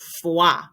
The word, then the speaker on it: froid: So, il fait froid. Use our soundboard. Last letter of most French words is silent. The OI gives you a W sound.